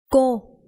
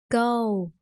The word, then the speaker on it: cô: Cờ, ô, cô, cô. Don't say go. It's not go.